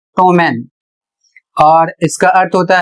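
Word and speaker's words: ptomaine: अगला शब्द है पी टी ओ एम ए आई एन ई इसे पढ़ा जाएगा टोमेन और इसका अर्थ होता है भोजन के सड़ने से बनने वाला विष अर्थात जहर।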